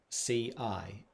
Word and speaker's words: ci: For example, we have the word ci, which is spelt with the C-I in English, but in Italian, when you have the C and an I, it's ci.